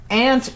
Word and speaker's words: aunt: Aunt is one to me that's so funny because I mean it's a regional thing, like whatever, both are acceptable, but like Ant is a different thing, and it's a bug on the ground.